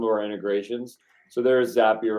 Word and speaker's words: Zapier: Yeah, Zapier rhymes with happier.